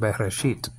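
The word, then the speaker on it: בראשית: And then there's a tau there, last letter of the Hebrew alphabet. And that has different pronunciations, but we're going to make it a T sound. And Bereshit.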